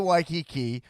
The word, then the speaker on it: Waikiki: waikiki right now and you're still pronouncing it wrong it's waikiki yeah and so you you escaped you ran off to hawaii you went to waikiki and now you're like